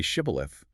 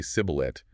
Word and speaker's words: shibboleth: forced them to say shibboleth, uh Ephraimite physically could not pronounce it correctly. The regional accent forced them to say sibboleth with a hard S instead of the shish.